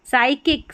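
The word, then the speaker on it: psychic: साइकिक, साइकिक P silent है, तो PS साथ में, तो स पढ़ देना है।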